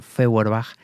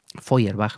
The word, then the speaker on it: Feuerbach: Pero nosotros, como bien decía Feuerbach, Feuerbach, mejor dicho, pronunciado, decía, toda teología es antropología.